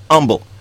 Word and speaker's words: Humble: channeling yes humble as north of Houston but for some reason is pronounced humble go figure go figure